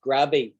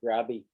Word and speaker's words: grave: word for sirius is grabby which means grave right it's spelt like grave but they pronounced grabby um right serious demanding